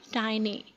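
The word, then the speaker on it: tiny: Next word is टिनी। इसको नहीं पढ़ना आपने। द राइट प्रोनाउंसिएशन इसकी है टाइनी।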